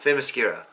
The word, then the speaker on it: Themyscira: Themyscira.